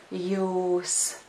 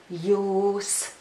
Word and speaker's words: jūs: Once more, that word is jūs. I think it's easy to remember the word because it sounds similar to the English word you. So once more, the word is jūs.